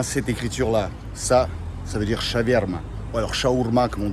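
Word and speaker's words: шаверма: Ça veut dire shaverma. Ou alors shaourma, comme on dit à Moscou. À Saint-Pétersbourg, on prononce shaverma, comme chevirme.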